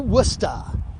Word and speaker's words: Worcester: hello and welcome to wusta not pronounced the way it is spelled we're at worcester airport